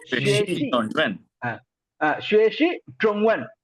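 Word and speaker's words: 中文: ஸோ ஸ்வேஷி ட்ரோங்வன் ஸ்வேஷி ட்ரோங்வன். ஸோ ZH வர்றதுனால இஜ் sound DCH இஜ் sound நாக்க மடக்கி ப்ரொனவுன்ஸ் பண்ணுங்க.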